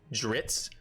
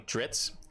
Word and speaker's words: Drizzt: But I pronounce this character's name as Dritz. I know that's not right. I'm just going. I don't want to like whatever. So Drizzt, Do'Urden. Yeah, I'm just gonna call him Dritz.